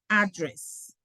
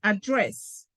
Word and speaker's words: address: Valeria chose to say address. O sea, Valeria está usando el acento americano, address. ¿Ah? Pero en el inglés británico es address.